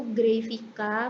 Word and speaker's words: Grayvica: Itu Grafika mempunyai 3 silabel, yaitu Gray, V, dan K. Mungkin tulisannya Vica ya, tapi bacanya Vika.